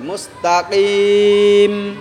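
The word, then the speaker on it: مستقيم: মুস্তাকিম ইহদিনাস সিরাতাল মুস্তাকিম মুস্তাকিম কাফ উচ্চারণ করবে মুস্তাকিম মুস্তাকিম ইহদিনাস ইহদিনাস ইহদিনাস কইয়ো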